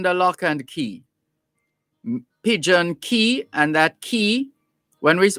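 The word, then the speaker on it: cay: lock and key pigeon key and that key when we when we talk about pigeon key lime key maiden key that key is spelled c a y so pidgeon key lime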